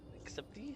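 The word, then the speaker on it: accepté: Acceptee? How do you pronounce that? Accept it. Accepte. The E with this accent is E.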